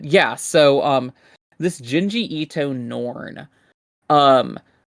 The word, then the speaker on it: Norn: Norn, as in like the new norm, but with a Yeah, second like yeah, N. like it like Elish spelled like an E instead of an F for flesh. Norn like Norm McDonald but with an N at the end.